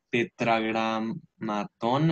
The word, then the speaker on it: tetragramatón: anteriormente cuando estudiamos el tetragramatón hebreo. Tetragramatón. Ahí tiene el acento en la A, tetragramatón hebreo, ¿ok?